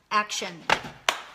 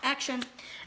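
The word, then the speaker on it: Axion: talk about action it's a xio n which pronounced action action and this is a multi nutrient do not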